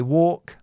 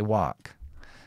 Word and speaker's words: walk: I say walk, they say wark.